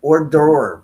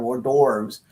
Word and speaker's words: hors d'oeuvres: We're having hors d'oeuvres hors d'oeuvres I can't even say it, Pete.